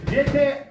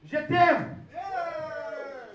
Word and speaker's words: Je t'aime: How do you say that? Je t'aime. Yeah, that's good. Is that correct? Je t'aime.